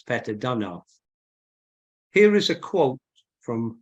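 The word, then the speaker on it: Peter Deunov: Here is an image of one of my favorite teachers, the Bulgarian master, Peter Dunov, or Peter Dunov, however you wish to pronounce it. I think the Bulgarian pronunciation is Peter Dunov.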